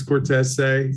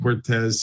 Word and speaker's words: Cortese: Yeah, so it's Cortese. That's it. The proper pronunciation. We were raised Saint Cortez, so we go with what Dad said.